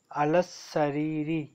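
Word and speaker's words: السرير: अलकित्ता तू अलल सरीर अल सरीरी, लाम साइलेंट होगा। अल सरीरी, सरीरी अल सरीरी, सीन के ऊपर फतह है, सरीरी ठीक है।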